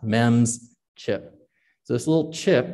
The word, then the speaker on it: MEMS: micro electromechanical systems which is very long it's pronounced mems chip so this little chip we can put